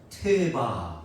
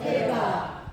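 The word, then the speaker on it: תֵּבָה: 우리가 방주를 뜻하는 히브리어는 이렇게 발음합니다. 한번 따라합시다. 태바. 태바. 다시 한번 태바. 태바.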